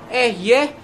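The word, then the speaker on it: אֶהְיֶה: kan itu yang membuat beberapa orang ya yang bacanya nggak komplit mengatakan bahwa nama Tuhan itu bukan yahwe yang betul itu ehyeh Acer eye yang artinya aku ada yang aku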